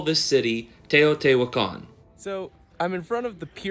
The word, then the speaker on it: Teotihuacan: Just to be clear, the pronunciation of the first place I'm visiting is Teotihuacan. That's Teotihuacan. Teotihuacan is home to the most famous large structures of ancient Mexico.